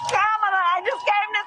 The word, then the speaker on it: Kamala: several years now you should know how to pronounce her name so listen very carefully hey Cleveland it's camela I just came to say thank you hey